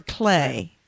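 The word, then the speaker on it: Klei: Wilderness according development developer is it CLE ey or clay uh I think it's Clay clay clay entertainment spelled spelled with a K an e and an i huh not c l a y right k l e i I know it's the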